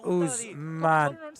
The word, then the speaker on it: Ousmane: My colleagues there are talking about the pronunciation of Ousmane. The O at the start and the E at the end are silent.